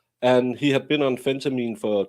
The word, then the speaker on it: phentermine: half this shit, but it's phentermine because it's phentamine is something different, but phentermine.